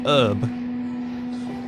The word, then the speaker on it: herb: LC Bads is saying some people say herb and some people say herb. Seems to depend where in the UK you're from, to be perfectly honest. I most definitely do pronounce the H.